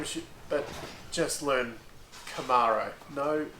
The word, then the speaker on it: Camaro: Could people learn how to pronounce Camaro properly? There's no fucking E in it. It's not a Camaro, It's Camaro, okay?